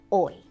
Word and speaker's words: hoy: ¿Qué día es hoy? ¿Qué día es hoy? What day is today? ¿Qué día es hoy? Hoy means today. Remember that H is, yes, that H is silent.